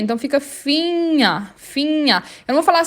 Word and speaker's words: Finger: depois do N, mas quando eles estiverem na mesma sílaba NG, o G é mudo. Então por isso que eu falo finha e o ER no final tem som de A.